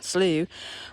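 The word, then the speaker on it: slough: boardwalk is called a good guts and slows pronounced slew are low channels in the forest that help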